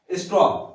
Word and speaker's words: straw: ठीक है, तो देखिए, एग्जाम्पल है ये स्ट्रॉ, STRAW, यहां पे क्या बता रहा हूं मैं आपको, ये 3 बता रहा हूं, AOE।